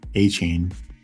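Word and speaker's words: Etienne: Good like change, him and so weird saying Travis A-Chain, but I believe that's how it's pronounced now.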